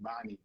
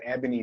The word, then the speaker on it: Ebony: name wrong last week I kept saying ibani but it's Ebony Beauty peace peace family all